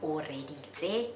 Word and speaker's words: Oreeditse: My name is pronounced Oreeditse. It's Tswana, it's a Tswana name, and my name means God was listening.